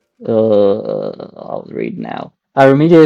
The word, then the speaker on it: AVerMedia: Avermedia is pronounced with the same sound as when you just say letter A.